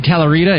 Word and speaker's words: Talarita: Talarita. Is that pronounced right? Yep, that's it.